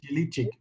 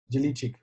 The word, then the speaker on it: Jelikic: Mario, yes, Mario I Yel, think it's Jelikic. I might be wrong, but I think it's the KIC is pronounced cheek. Cheek. Cheek. So pronounce it? Jelikic.